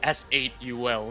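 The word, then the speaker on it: S8UL: And also apologies to the fans coming from INSA if we mispronounced like Soul Esports. I mean I got so used to calling them that. It's actually S8 UL.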